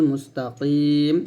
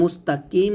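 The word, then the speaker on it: مستقيم: অর্থ মানে প্রত্যেকটা অক্ষরের উচ্চারণ হরফ উচ্চারণ সঠিকভাবে জানতে হবে পাঁচ নম্বর ভুলটা হচ্ছে ইহদিনাস সিরাতাল মুস্তাকিম এখানে কফ বড় কফ বা আমরা বড় কফ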